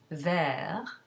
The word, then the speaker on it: vert: So for example, if you have the masculine singular adjective for green, which is vert, where the T is not pronounced, you add an E to it to make it feminine, and you get verte.